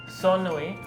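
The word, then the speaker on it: ሰኑይ: Soni.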